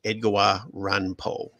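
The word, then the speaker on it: Edogawa Ranpo: You'll find it, isn't it, if you say his name real fast, you can figure out which American writer he named himself after, which is Edgawa Ranpo.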